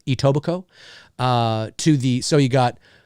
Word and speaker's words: Etobicoke: but it's actually pronounced Etobicoke the the the K in coke is silent Etobicoke to the so you